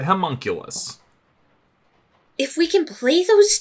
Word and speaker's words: homunculus: yeah so I was like I'm sorry the homo cluess no Vivian said homunculus if we can play those two against each